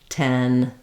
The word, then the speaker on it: ten: it can help to say all three of them like tin t tan or start in the most open tan 10 tin these types of words and